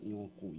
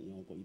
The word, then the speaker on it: 楊逵: 所以改作杨贵啦吼。啊，这是那照伊改本身改的名，应该读作杨贵，才我做一个见证。